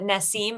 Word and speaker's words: Nassim: Um but Naseem. Naseem.